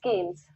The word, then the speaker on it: Keynes: say that Adam Smith, Karl Marx, or John Keynes, or as some people pronounce it as Keynes, are the they literally have done the best